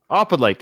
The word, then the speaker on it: Opalite: The next one is called, we looked up the pronunciation. Let's see if I remember it. Opalite.